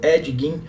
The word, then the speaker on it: Ed Gein: crimes do Edward Theodore Gein, mais conhecido como Ed Gein. E sim, essa é a pronúncia correta do nome dele, mesmo que não